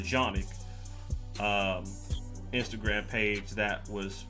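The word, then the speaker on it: Canik: uh it was a A canic or if you want the actual Turkish pronunciation the the janic um Instagram page that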